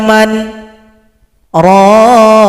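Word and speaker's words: مَنْ رَاقٍ: Di sini cara bacanya pakai sakta. Sakta itu artinya kita tahan nafas kira-kira 2 ketukan baru lanjut. Jadi kita jeda dulu nanti ketika baca man ini. Wa qila man raqa.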